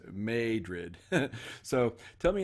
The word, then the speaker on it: Madrid: friends in Missouri did when I said Madrid and they told me that no Larry it's made rid so tell me how